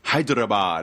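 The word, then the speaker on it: Hyderabad: this semester in h hyad got to say it right I got to roll the r it's uh population golly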